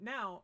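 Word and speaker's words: ん: I don't want to get too deep into particles right now, so just remember that this is pronounced o.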